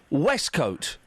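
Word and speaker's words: waistcoat: It's pronounced West Coat.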